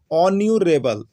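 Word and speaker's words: honourable: तो देखिए यहाँ पर क्या होता है, राम इज, यहाँ पर एच है, लेकिन एच क्या है आपका, साइलेंट है, एच साइलेंट है, एच का उच्चारण नहीं हो रहा, तो क्या हो रहा है, ऑन्यूरेबल, ऑन्यूरेबल।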